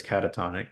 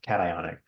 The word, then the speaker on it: cationic: name the transition metal since this is catatonic cat iic sorry I think I wrote that wrong I wrote or I probably said it wrong before I probably said Caton cationic my bad we have